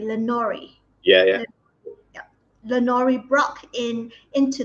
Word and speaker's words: Lenore: You've also written female characters for a number of high-profile IPs, including Lenore Brock in, did I pronounce it correctly? Lenore.